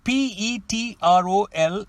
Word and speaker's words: petrol: The word P-E-T-R-O-L is pronounced as petrol, which refers to the fuel, gas or gasoline as the Americans would say.